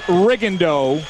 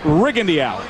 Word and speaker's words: Rigondeaux: well if you're wondering his name has been pronounced Rigo through most of his amateur career but in prepping for this fight the camp was very clear in saying that the preference is rig Andy out so from this point